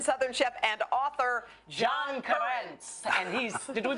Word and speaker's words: Currence: they called in Southern chef and author John Currence. And he's, did we pronounce it right?